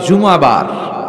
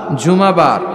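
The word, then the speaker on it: জুমু'আ: আসলে বলা উচিত জুমাবার। কিবার? জুমাবার। সূরাটার নাম হচ্ছে সূরাতুল জুমা। আমার সাথে সাথে বলেন সূরাতুল জুম সবাই বলেন সূরাতুল জুম অনেকে বলে ফেলে জুমা জুমা আসলে আরবিতে শুদ্ধ উচ্চারণটা হচ্ছে জুমু সূরাতুল জুমু এই সূরাতে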